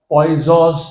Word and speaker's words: Poisson: हाँ, ये problem is with language, English language, and लिखते हैं लेकिन pronunciation it इज पॉइजॉस ratio. Good. अब ये पॉइजॉस रेशो क्या है वो